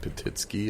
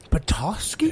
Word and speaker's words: Petoskey: He's in Petitsky, or what? How do you say it? Petoskey?